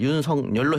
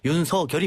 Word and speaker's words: 윤석열: 이렇게 했는데 이거는 어 윤성열 총장이 자신의 이름을 윤성열 해 달라고 그랬었는데 국립 어 어 어 국립국어원에서는 윤서 결이 맞다 그랬거든요 그기 때문에 뭐